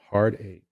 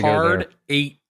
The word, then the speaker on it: Hard Eight: place called heart heartache heart a okay Joel We got Hard Eight like heart a or Hard Eight hard eight eight like the number eight the number eight you said it wrong what does that stand